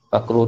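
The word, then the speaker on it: عقره: Fakruhu tu cara baca dia bi fathil ain. Fathahkan ain.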